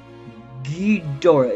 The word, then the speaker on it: Ghidorah: I have the pronunciation right here on my computer. Ghidorah.